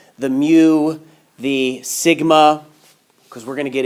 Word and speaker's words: mu: you can pronounce mean you can pronounce the Greek letter mu like a cow but I've heard it more pronounced m you like my you okay